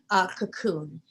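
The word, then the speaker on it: Kaqun: But then I found Cocoon. It's out of Hungary. It's a liquid oxygen. It's spelled like cackling, K-A-Q-U-N, Cocoon.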